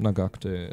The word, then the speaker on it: Nagakute: Nagakute. Wird man es wahrscheinlich aussprechen. Nagakute. Des. Konnichiwa. Rallye Japan. Nagakute des. Ja, ich glaube, Nagakute ist die richtige Aussprache.